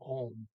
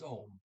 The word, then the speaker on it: om: I said Ohm. It's a OM. The O there is pronounced as a short O, Ohm. Okay. I said maybe it's No, it's Ohm.